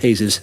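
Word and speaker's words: Jesús: that you know that's quite a common name in Spain it's pronounced hazes so okay it's a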